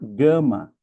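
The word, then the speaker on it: γάμμα: A terceira letra é a gama, não é?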